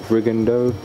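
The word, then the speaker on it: Rigondeaux: Similar to I can never say his name. The bantamweight Rigondo. Yes. That's how you say it.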